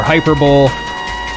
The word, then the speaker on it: hyperbole: I understand hyperbole, or hyperbole. Whichever way you want to pronounce it is acceptable. I get it. Where is she going? B-O-L-E is actually pronounced bowl. Or originally was pronounced bowl, I should say.